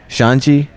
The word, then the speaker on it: Xande: Shanji.